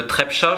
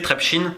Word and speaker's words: Trepča: un événement en 89 dans les mines de Trepča, je dois peut-être mal le prononcer, Trepčin, j'ai un doute. Non, c'est très bien, Trepča, c'est bien.